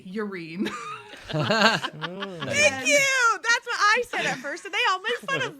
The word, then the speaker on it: Irene: So clearly all of you have agreed that Irene is pronounced Irene. That's lovely for all Oh, of you. yes. But in our home, we say Urine.